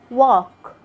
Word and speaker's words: walk: its letters are silent letter l letter l is silent in some of the most famous and common words we use every day like when you say walk talk should would have letter n letter